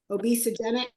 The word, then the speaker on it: obesogenic: time you know that we used the word obesogenic that's how you pronounce it and I said I